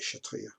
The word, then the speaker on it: Kshatriya: Looking down, I don't believe you pronounce the K.